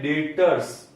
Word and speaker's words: debtors: B silent है बेटा, यहां पे बी है वो साइलेंट है, इसलिए इसको बोलते हैं डेटर्स।